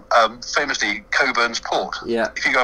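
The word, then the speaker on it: Cockburn's: were a little bit repressed people would actually pronounce it differently so you've got people you know it's like um famously coburn's port yeah if you go and buy a bottle of coburn's port it's actually spelt cockpins on the label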